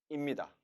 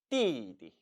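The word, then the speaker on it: 弟弟: 원래 발음은 띠입니다. 하지만 이 역시 발음이 너무 세거니와 불편하기 때문에 자연스레 뒷부분이 경성 처리됩니다. 따라 읽어보시죠. 띠디.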